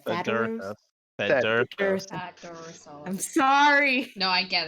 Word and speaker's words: Thaddeus: Thaddeus. I'm sorry. No, I get it. I get it. He did this on purpose. It's 3 syllables.